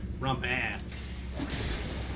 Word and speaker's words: rumpus: It's spelled rumpus, but it was like rump ass.